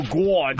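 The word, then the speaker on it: Gawd: They call themselves the Radio Gwad. G-A-W-D, because that's how you say it.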